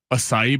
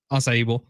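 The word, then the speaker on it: açaí: Asai. That's not how you say it. Acai.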